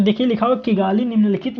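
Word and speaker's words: Kigali: ठीक है, देखिए लिखा हुआ है किगाली, यहाँ पे किगली लिखा हुआ है लेकिन एक्चुअली में इसको बोलते हैं किगाली।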